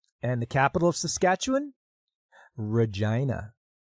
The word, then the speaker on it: Regina: with me sasketchewan and the capital of Saskatchewan Regina rhymes with fun if you know what I mean